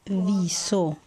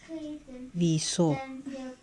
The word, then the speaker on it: wieso: Y esta es wieso. Wieso. Se pronuncia así. Wieso. Ya sabemos que cuando encontramos una I y una E juntas, se pronuncia como una I larga.